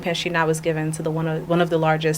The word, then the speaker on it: Pinchina: So Pinchina, originally it has a silent T that I dropped to help the non-French speaking population pronounce it better, because Pinchina would have just gotten under my skin.